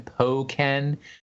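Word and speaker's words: Hoenn: like the burst in poen tournament did I pronounce it correctly this time poen yes um where it just becomes more powerful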